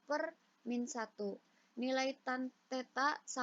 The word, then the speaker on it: theta: 25 itu lima akar2nya tetap jadi nilai r = 5 akar2nya n berikutnya apabila kalian sampai ditanya besar arah maka nilai arah atau theta kita bacanya ya jadi simbol itu kita bacanya teta itu kita ambil dari